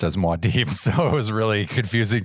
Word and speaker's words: Muad'Dib: I've only ever heard Muad'Dib pronounced as Muad'Dib, so it was really confusing to me when you said Muad'Dib.